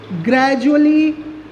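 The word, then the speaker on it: gradually: हम लोग देखते हैं एजुकेशन, एजुकेशन, ग्रेजुएट, ग्रेजुअली। ये कुछ ऐसे वर्ड्स हैं जहाँ पर D का जो साउंड प्रोड्यूस होता है वाइल द रीडिंग, तो यहाँ पर रीडिंग करते समय हम D को ज साउंड प्रोड्यूस करके पढ़ते हैं।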